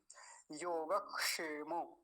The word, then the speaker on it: योगक्षेम: ऐसे ही बोलेंगे योग क्योंकि ये जो क् क्षत्रिय होता य क और मूर्धन्य सकार को मिलके बनता हैय योग क्षेम तब आप इसका अच्छे